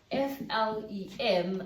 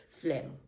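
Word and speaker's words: phlegm: it should be spelled f l e m i mean if the pronunciation of it is Flem then it should be spelled that way no I'm sorry I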